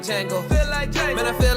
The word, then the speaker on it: Django: Patrick and Young Priest the Preacher, called Django, right here, Speak Life Radio. And we'll be back, man, to close it out right here. D-J-A-N-G-O. The D is silent.